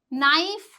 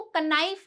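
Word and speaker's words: knife: नाइन नाइफ नाइफ यहां पे इसको कनाइफ नहीं बोलते हैं। है ना? कुछ लोग मैंने देखा है कनाइफ बोलते हैं। यहां पे के साइलेंट है। इसे एन से शुरू करेंगे।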